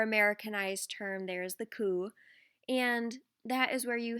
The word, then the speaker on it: coup: and we see a lot of kuretas or kus is what they're pronounced as more americanized term there is the coup and that is where you have different militarized